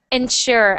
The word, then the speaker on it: ensure: Even though there's no h, we pronounce it like sh ensure.